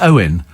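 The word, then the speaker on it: Eoin: england captain who's called owen morgan so he pronounced owen e o i uh the irish spelling oh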